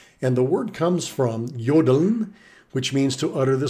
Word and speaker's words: jodeln: And the word comes from jodeln, which means to utter the syllable yo. It looks like Joe when it's spelled out in English, but the German pronunciation of J is like our Y, yeah.